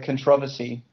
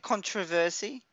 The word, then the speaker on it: controversy: was so much uh controversy over that game isn't it controversy controversy no but isn't controversy I've never heard it's controversy it's controversy okay controversy is the um American pronunciation oh okay I've never